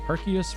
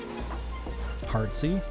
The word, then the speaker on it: Arceus: a remake best debate Arceus with hard C or silent c still yeah I've not